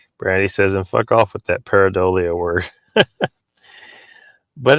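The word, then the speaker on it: pareidolia: was the other day someone just kept pronouncing it wrong they kept calling it paradilia uh michael says donald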